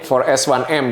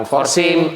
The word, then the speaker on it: ForEst1M: Kalau ForEst1M ini ForEst1M bacanya yang benar ya. Tapi banyak kan ada yang bilang Forsim, Asim. Suka-suka lu deh.